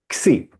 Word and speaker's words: Xi: Xi.